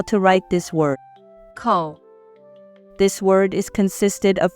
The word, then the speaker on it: 口: This word is the 3rd tone, so it should be ko. Now, let's talk about mouth radical. Ko.